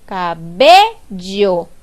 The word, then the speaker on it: cabello: En la palabra cabello, la sílaba tónica vendría siendo B, porque yo digo cabello. Yo no digo cabello ni digo cabello. Yo digo cabello. Y es por eso que la sílaba tónica es B, porque cuando yo pronuncio